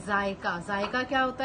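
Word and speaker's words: ज़ायका: अब जायका, देखें ऊपर आ गया हमज़ा, अब हमज़ा की वजह से ये वर्ड प्रोनाउंस ऐसे होगा जायका, ठीक है। हमज़ा की वजह से इस तरह प्रोनाउंस हो रहा है, अगर हमज़ा नहीं लगाएंगे तो ये कोई और वर्ड हो जाएगा, ठीक है।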